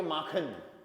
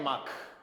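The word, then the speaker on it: mach: माख। तो इसका वर्ब कॉन्जुगेशन देखो, इसके साथ यूज करेंगे हम माख है, इश माख है। सी एच से पहले ए ओ यू आ जाए तो ख साउंड होता है।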